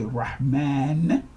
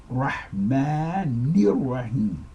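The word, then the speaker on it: الرحمن الرحيم: Rahmah, and here again where people will say Rahman, even though the word and the name is Rahman, but in this sentence it is not pronounced like that. You do not pronounce that N sound twice. It is Rahmanir Rahim.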